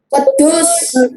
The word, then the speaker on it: wedhus: nulungi Singo yo iku wedhus wedhus ora wedus tapi wedus bacanya Ya wedus wedus Hai lidahnya ditekuk wedus Ndah Jadi kalau kamu